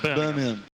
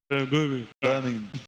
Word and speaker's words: Birmingham: Like Birmingham. Birmingham.